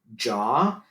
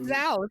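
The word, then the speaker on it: Zhao: it is uh directed and written by chloe jaw that is how you say her name stop saying sao people oh i keep calling it zao thank you yes i am you're not listen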